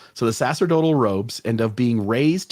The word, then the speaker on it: sacerdotal: the uh uh the phonetic spelling sass yeah Sasser total so the sacerdotal robes end up being raised to the very